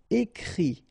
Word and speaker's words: écrit: Okay, and then the IT, phonetically you pronounce I because final T is not pronounced, but still. Écrire, to write, écrit.